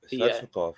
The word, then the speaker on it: Svechnikov: Svechnikov, is that how do you pronounce that guy's name? Svechnikov, yeah.